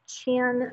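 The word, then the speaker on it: Qin: and then the chin that is pronounced chin just like below your mouth the chin dynasty arose bringing an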